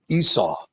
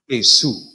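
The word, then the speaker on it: עשו: Esau, that is such an English vulgar term. The name is pronounced Asu and it is Oh yeah.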